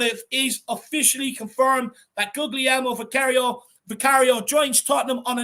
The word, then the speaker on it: Guglielmo: So we start with Guglielmo Vicario, but I have been told that second G is silent, so it's more like Guglielmo Vicario.